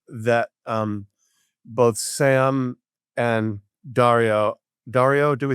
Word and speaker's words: Dario: um both Sam and Daario. Daario, do we say is that how pronounce his first name? Dio. Dario. Dario. Dario. Uh like Dorito.